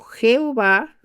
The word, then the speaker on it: Jehová: tetragramatón, es decir, cuatro letras que son la y, la h, la w y que se pronuncia como Jehová o Yahvé.